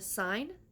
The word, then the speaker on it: Seine: My audiobook that I'm currently listening to is The Little Bookshop on this, I cannot say this word, on the Seine. Little Bookshop on the Seine.